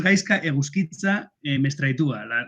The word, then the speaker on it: Gaizka Eguzkitza Mestraitua: Bueno, el nombre es Gaizka Eguzkitza Mestraitua, las Z se pronuncian como si fueran S.